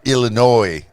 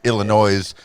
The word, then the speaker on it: Illinois: in danville uh illinois wait is there noise in illinois is there no noise is that it is okay all right me being a bobo i i probably pronounced it illinois a time or two but growing up in